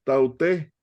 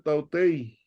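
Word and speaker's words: ταύτῃ: Elizabeth, esta podía haber sido, esta es terminar así, sí, tautei, tautei, pero una de las reglas del griego es que lo puedes ponerla ahí como una iota. Entonces ya nada más dices tauté, pero podría ser tautei.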